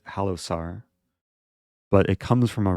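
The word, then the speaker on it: Halosar: So the Halo Sar trap, I usually pronounce it Halo Sar, but it comes from a Rider Gambit.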